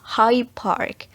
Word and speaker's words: Hyde Park: Dan yang ketiga yaitu ada Hyde Park. Di sini cara pengucapannya D sound-nya becomes B. Hyde Park becomes High Park.